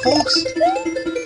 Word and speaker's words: folks: Isn't it fun, folks? Yes, I pronounced the L. I know it's usually silent.